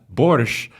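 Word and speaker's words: borscht: Uh, borch. Uh, so that's kind of a Russian pronunciation.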